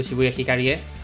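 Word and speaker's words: Shibuya Hikarie: to finish today's mission we're gonna go to shibuya hikaria and that's how it's pronounced look at the logo and we're gonna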